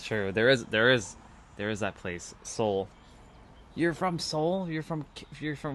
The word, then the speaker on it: Seoul: It's so fascinating how it has an E in the word, but it's spelt the same. It sounds the same thing. Soul.